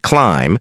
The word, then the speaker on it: climb: Climb. The B is silent.